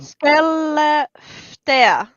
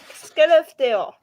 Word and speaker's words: Skellefteå: Skellefteå. Yeah. Oh, it's A, pronounced like A is Speaking- pronounced as Yeah. A is pronounced as O.